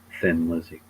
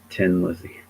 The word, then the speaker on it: Thin Lizzy: But, and it's also funnier how um most Americans say Thin Lizzy because it's not actually how you pronounce the name of of that band. It's Tin Lizzy.